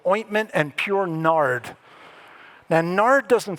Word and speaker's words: nard: Now, nard doesn't sound very good to us, right? It rhymes with lard.